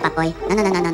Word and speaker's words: Papoy: toy unicorn for Agnes, the Minionese word they use rhymes with toy and conveys that they understand their mission. Papoy? Akala na papoy?